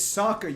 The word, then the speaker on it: Sokka: I'm surprised they haven't done fucking, like, Jean versus Sokka. Did you just say Sokka? Yeah. It's Sokka, you fucking degenerate. Like this isn't even debatable. They pronounce it in the story Sokka.